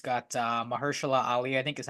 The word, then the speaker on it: Mahershala Ali: It's got Mahershala Ali, I think is how you pronounce his name in Is it.